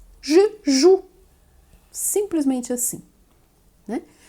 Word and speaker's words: joue: Je joue e não je joue. Embora tenha esse E no final, aí você percebe nesse verbo o quanto ele é mudo, né?